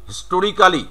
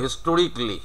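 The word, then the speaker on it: historically: কারণ উনি হিস্টোরিক্যালি এটা বলবে না, উনি বলবে হিস্টোরিকলি।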